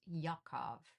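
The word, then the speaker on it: יעקב: Um, Jacob in Hebrew, Jacob's name is pronounced Yakov, which is derived from the Hebrew word for heal.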